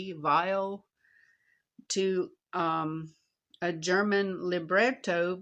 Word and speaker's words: Weill: political satire composed by Kirk Wild while I believe that's pronounced with a like a vile to um a German Liberto by Berto Bre.